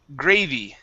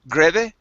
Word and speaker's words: gravy: is um let's see gravy okay make sure to pronounce an e sound here at the end instead of grebe it's gravy gravy gravy gravy okay very